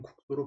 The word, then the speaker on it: 국수: 국수는 두 번째 음절 첫 소리를 된소리를 적지 않더라도 표준 발음인 국수로 발음되므로 표기에 된소리를 밝혀 적지 않았지요.